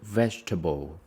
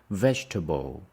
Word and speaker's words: vegetable: What's your favorite vegetable? Stress is on the first one. We say vegetable. Not vegetable.